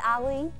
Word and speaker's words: Ali: My name's Allie, that's A-L-I, like Muhammad Ali, except it's pronounced Ali.